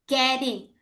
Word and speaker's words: getting: Getting, Teman-teman. Ya, getting huruf T-nya ini seperti huruf Dac caring. Tapi D-nya bukan getting tapi D-nya lemah.